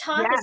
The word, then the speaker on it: Thoth: Is it Thoth? Yeah. Okay, because I always was like looking at it, I'm like, how do I pronounce this? I can't say it. But hearing you say it, yeah, with the TH, it's not obvious.